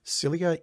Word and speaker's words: cilia: Well, according to the YouTube video that I just looked at right now, cilia is the correct pronunciation.